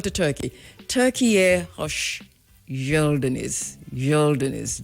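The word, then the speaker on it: geldiniz: Yelinis. G e l d i n i z. Gelinis. It pronounced like a y.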